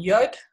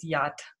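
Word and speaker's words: יוד: In moderne Hebreeus praat hulle van Yod, Yud of Yod. Dis hoekom baie mense sal mos sê vir Abba se naam Yod, Hei, Vav, Hei, maar in antieke Hebreeus is dit Yad.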